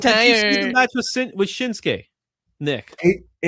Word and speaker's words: Shinsuke: Did you see the match with Shinsuke? Nick AJ Styles looks like a a mannequin to me. But did you see the match with Shinsuke which was awesome?